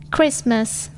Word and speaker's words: Christmas: following words Island I'm silent T tears not pronounced in these camel words Castle Christmas fossum listen often whistle whistle silent u U